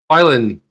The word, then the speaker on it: Filan: Filan is the way you pronounce it.